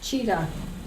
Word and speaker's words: Tashida: Tashida is pronounced cheetah.